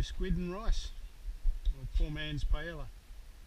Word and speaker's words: paella: and rice po man's Pella paa if you want to pronounce it correctly ready okay the fire's